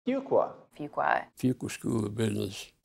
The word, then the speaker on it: Fuqua: That's not one qua, it's not two qua, it's a Fuqua. That's what my 10-year-old told me to remember how to pronounce the school's name. Fuqua.